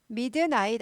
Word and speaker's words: midnight: midnight 아니고 midnight 이거 스타카도 있어야 돼요. midnight보다 좋은 발음 midnight. midnight 그럼 잘 못 알아들을 수도 있어요. 그래서 midnight 하고 잘 끊어야 됩니다.